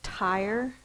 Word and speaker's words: tire: of the videos is tire. Tire. The E makes the I say the long sound. That's a silent E syllable type.